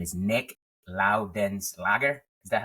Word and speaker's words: Loudenslager: His name is Nick Loudenslager.